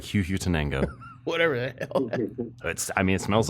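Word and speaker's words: Huehuetenango: I'll spell it for those who want to pause and listen. It's a HUETENANGO. Huhutenango? Huhutenango? Huhutenango actually sounds Perfect.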